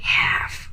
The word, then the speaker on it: half: when you say have please never pronounce the L the L is silent so just say half okay so uh we